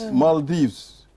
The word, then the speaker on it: Maldives: travel to the Maldives Maldives yes stop fooling us it's not model it's Mal M A is not m-o is that the pronunciation